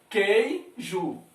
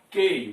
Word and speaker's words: queijo: Queijo. Vamos botar um chapeuzinho aqui, viu? Queijo. Queijo. Cadê o U? O U ficou sem pronúncia, é dígrafo.